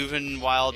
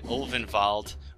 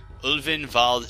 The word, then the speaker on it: Ulvenwald: No, but you get the Uvenwald Tracker, however the hell you say his name. Ulvenwald. This has to be Ulvenwald Tracker.